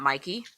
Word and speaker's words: Mikey: Baker, Best Actress in a Leading Role, was Mickey Madison. It's but also, Mickey, not Mikey.